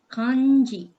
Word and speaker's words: 漢字: So Kanji, can you tell me how to pronounce this? 漢字。 Kanji.